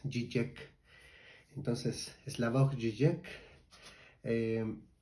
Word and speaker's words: Žižek: slavo Eh cisec bueno se escribe con con zas pero su pronunciación correcta es gek entonces slav gek eh